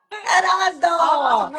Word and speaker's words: Gerardo: Almost Gerardo. rolled R's.